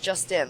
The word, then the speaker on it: Juszczyszyn: Yush. Justin. Like, this is Justin. That's how he taught me how to say it. Justin.